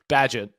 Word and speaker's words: Bagent: Bagent. You've been in Europe too long. Thanks. I didn't. You've been adding emphasis on wrong letters.